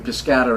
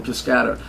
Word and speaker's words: Piscator: Elaine Stritch pronounces his name Piscator, and she studied with him, so I'm deferring to Miss Stritch. Yeah. So I'll call him Piscator.